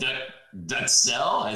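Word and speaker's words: duxelles: say that mat duck how do you say that duck duck cell there you go duck duck yeah uh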